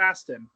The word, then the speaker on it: Sean Astin: Sean Astin. Is it Aston?